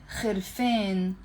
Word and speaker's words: harfain: We pronounce the alif in the Lebanese dialect as a, Harfain.